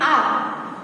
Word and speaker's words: hour: HOUR को क्या बोलेंगे, आर। तो यहाँ पे साइलेंट कौन सा हो गया, H।